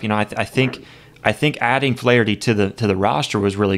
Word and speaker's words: Flaherty: Jack Flaherty. Flaherty.